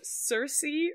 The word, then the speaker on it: Cersei: much yeah but also Cersei rhymes with thirsty which I think is